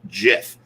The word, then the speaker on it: GIF: moving picture oh yeah it's supposed to be pronounced jiff but everybody does it with a hard g get it which is